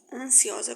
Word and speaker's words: ansiosa: Esse ansiosa tem que soar um S e não C. Em vez das pessoas dizer ansiosa, diz ansiosa. Lembre-se, ansiosa com S.